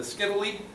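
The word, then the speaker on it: scytale: The Skittily rhymes with Italy, sort of.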